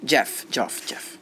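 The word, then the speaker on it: Geoff: Or how do you pronounce his Jeff? name? Jeff. Jeff with a weird, pretentious spelling.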